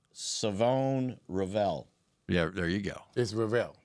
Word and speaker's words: Revel: Tell me what how you pronounce it. Just say it. Say the whole name. Savone. Rall.